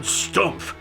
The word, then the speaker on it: Stumpf: I'm John Stumpf. Rhymes with herumph.